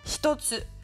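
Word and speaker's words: 一つ: Si on a le kanji de 1 plus le hiragana tsu, eh bien, ça se prononcera toujours hitotsu.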